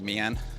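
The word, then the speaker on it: Mỹ An: I did a video not long ago about Pig Gym, which is in Mai An or My An. I think the official pronunciation is actually My An, after speaking to Vietnamese people.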